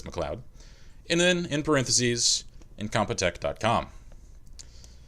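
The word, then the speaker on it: MacLeod: like this insert title kevin mcleod or mclead depending upon how you pronounce his name i believe it's mcleod and then in parentheses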